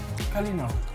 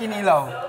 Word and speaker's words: Kalinaw: Kalinaw. A kalinaw. Kalinaw. No, not kinilaw.